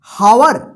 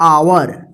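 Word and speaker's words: hour: आर इसको क्या पढ़ेंगे हावर गलत हो जाएगा हावर ये गलत होगा क्योंकि यहां पर एच जो है ना साइलेंट रहेगा इसका उच्चारण होगा आवर ये होता है आवर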